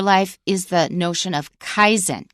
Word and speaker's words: Kaizen: is the notion of Kaizen k-a-i-z-e-n that's a Japanese pronunciation of a Chinese compound but the Japanese are